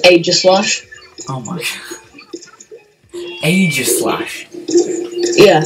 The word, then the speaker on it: Aegislash: You said Kroganok. Kroganok. I don't even know. Oh, and you know the DLC character that you weren't going to try and pronounce? Yeah. It's pronounced Aegislash.